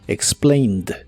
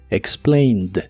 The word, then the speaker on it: explained: la forma del presente solo que ahora termina con e d aunque no pronuncias la e solamente la d explained explained en el pasado la